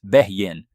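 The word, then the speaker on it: בֵּין: The second word is H996, pronounced as Behyin, which means between, as in intervals in between or space in between.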